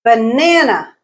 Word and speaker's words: banana: the stress syllable let's look at some three syllable words banana banana banana medical medical medical me is the